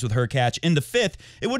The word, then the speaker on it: Hurkacz: just move Medvedev and Hurkacz rhymes with Latch to center court to finish the match. Also rhymes with Latch. Even if the match, also rhymes with Latch, went to 12-12, also rhymes with Hurkacz, in the 5th, it